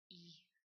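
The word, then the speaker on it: え: You want to pronounce it like E, as in feed. Like that. E. E. E. It is not the I in English as in it. It's not that at all.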